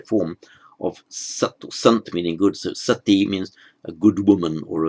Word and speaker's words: sati: sanskrit word and that's it's with a long e at the end literally means it's the female or the feminine actually form of meaning good so sati means a good woman